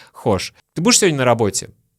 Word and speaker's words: хочешь: Хочешь, я к тебе приеду? Хочешь, я к тебе приеду? Хочешь, я к тебе приеду? Слышите? Не хочешь, а хошь.